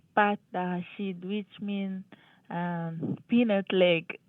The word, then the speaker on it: pâte: So you translated, they sound almost the same, pot and pat.